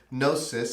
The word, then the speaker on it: gnosis: And actually, there's a Greek word, gnosis, and it's spelled with a G, Gnosis.